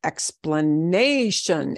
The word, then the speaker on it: explanation: You just have to know that it's explanation. Explanation. Give me an explanation. And that nay is what we punch harder.